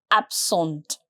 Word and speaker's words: absente: And if you're a girl, you will add this extra E here and the pronunciation will be slightly different. Je suis absente.